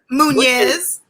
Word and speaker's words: Muniz: Muñez.